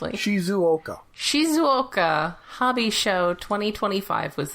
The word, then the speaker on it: Shizuoka: Uh so the Shizoka, if I pronounce that even close to correctly. Shizuoka.